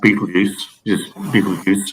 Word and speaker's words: Betelgeuse: Okay, it's actually pronounced Betelgeuse, okay, which is the star in Orion on the right shoulder.